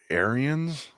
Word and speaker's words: Ariens: I think it's Arians.